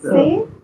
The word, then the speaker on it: ces: CES. C-E-S. Say. Say. Exactement. Say. Say. Say.